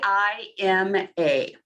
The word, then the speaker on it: Kima: How do you say K-I-M-A. Oh, just Kima.